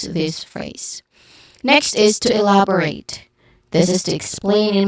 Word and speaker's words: elaborate: Now, the stressed syllable is on the second syllable, love. Okay, love, elaborate. Now, it starts with E, which is a short E sound, elaborate, love. And then it ends with rate, which has a clear diphthong sound.